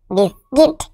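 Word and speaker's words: biscuit: হস্তিকার sound হবে, যেমন বি আই এস বিস, সি ইউ আই টি কিট, বিস্কিট।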